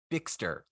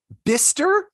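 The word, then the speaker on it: Bicester: have a second go bigster okay this is so near me as well becaster Festa they're bister yes it's Bice stir what mishta stir why not spell it b-i-s-t-e-r you want logic don't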